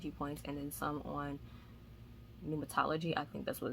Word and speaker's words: pneumatology: I'll put it on the screen because it starts with a P, but you don't pronounce the P, so I think it's pneumatology.